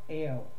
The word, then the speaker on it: El: El, which is E-L, which people have traditionally used as meaning God. El, or Ale, that's actually the way that it was originally pronounced in Canaan.